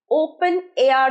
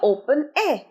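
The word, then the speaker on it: open air: ইন দা ওপেন এয়ার ওপেন এয়ার বলবে না এ র টা উচ্চারণ করবে না one's more then I গো আউট for morning walk in দা ওপেন এয়ার wonderful আমি আধ ঘন্টা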